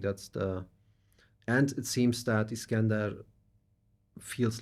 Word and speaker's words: Iskender: By the way, it took me more than 4 decades to pronounce my name as my mother would do it. So it's not. I was always pronouncing it the German way, Mhm. and I changed to pronounce it the original way, which is Iskender.